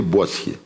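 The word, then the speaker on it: Boétie: clients français au boîtier si vous aussi vous écrivez en anglais say say droitier mais ça se prononce en français boissier monsieur tient de la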